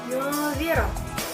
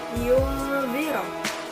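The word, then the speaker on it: ينذر: Yang selanjutnya adalah yunziro, nun sukun bertemu dengan zal, itu adalah hukum bacaan ikhfa, yang mana bacanya itu disamarkan atau seperti mengucapkan huruf am, yunziro.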